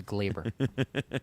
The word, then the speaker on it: Gleyber: It is Gleyber because John Sterling says that it's Gleyber Day whenever he hit a home run, so it's Gleyber.